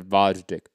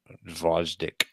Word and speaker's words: Gvozdyk: Don't pronounce the G. Think about it that way. All right. This is Gvozdyk. Gvozdyk.